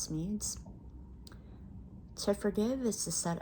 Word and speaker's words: Smedes: from Lewis B smeads I believe the last name is pronounced smeared to forgive is to